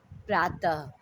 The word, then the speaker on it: प्रातः: लिखना चाहिए, जैसे अतः, प्रातः। यहाँ पे देखिए ह लिखा हुआ है ना, ये गलत है। इनका उच्चारण ह की तरह, आधे ह की तरह होता है, लेकिन ह लिखा नहीं जाता है।